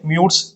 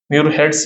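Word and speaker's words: Muirhead: तो आप एक इनक्वलिटी है म्यूट्स इनक्वलिटी, ठीक है, म्यूर हेड्स इनक्वलिटी बोलते हैं बेसिकली इसका प्रोनाउंसिएशन।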